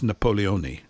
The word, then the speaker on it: Napoleone: And I love the way the Italians say his name. It's Napoleone, which is, I quite like that.